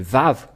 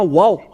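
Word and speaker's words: וָו: lorsque nous voyons cela nous voyons bien que c'est V la vraie prononciation mais pas waou c'est bien un V parce que ils ont il y a ceux qui sont ont créé le waou va W c'est un peu étonnant car même si c'est wa ça se prononce vave ou que vous soyez c'est toujours le vave et nous allons revoir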